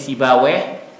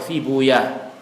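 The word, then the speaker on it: سيبويه: juga bukan dibaca sibaweh, sibuyah. Sebagian membaca sibuyah. Makanya rohaweh juga ada yang membaca rohuyah. Ahlul hadis kebanyakan membacanya dengan bacaan rohuyah, marduyah. Ahli lughah membacanya sibaweh, mardaweh, seperti itu.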